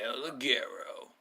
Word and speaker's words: El Ligero: No, you don't get to talk because you don't say it right either. It's El Ligero.